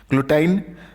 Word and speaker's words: गिलोटाइन: ये आप देख सकते हैं, ये इसे बोला जाता है गिलोटाइन। ठीक है, कोई लोग ग्लूटाइन भी बोलते हैं लेकिन गिलोटाइन इज़ द राइट प्रोनाउंसिएशन।